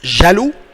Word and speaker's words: Jaloux: Après égoïste, on a jaloux. Jealous. It's somehow the same. It looks like the meaning in English or the word in English. Jaloux. X est muet. Silent X.